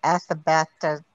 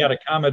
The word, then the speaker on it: Atacama: the one in the uh the i never pronounced it the athabata desert the animal oh the atacama desert anaconda desert that's it okay um that